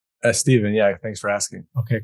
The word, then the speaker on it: Stephen: By the way, is your correct pronunciation Stephen or Stefan? Steven, yeah, thanks for asking.